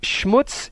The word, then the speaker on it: Schmutz: way to put it Schmutz is a Yiddish word that means dirt or Grime properly pronounced it should rhyme with puts not cuts it is sometimes spelled